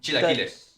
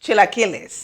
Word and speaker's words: chilaquiles: Chilaquiles. Chilaquiles.